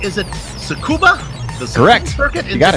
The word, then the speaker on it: Tsukuba: Joe am I getting this right is it Tsukuba the sex forget you got it all right don't pronounce the teeth you know this being the